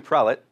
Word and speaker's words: prelate: Sanctum prelate, which I learned is pronounced prelate, not prelate, which feels odd now saying that.